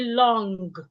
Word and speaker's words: long: When we have N and G in a word, we do not pronounce the G sound. So we don't say long. The G should not be heard.